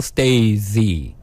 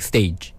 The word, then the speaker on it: Stay Z: Soul Stay Z, like stage. Stay Z. Oh. So in Korea, it's just stage. It pronounced as like stage. stage. Yes, stage. But it's spelled different. It's like stay and With- Z.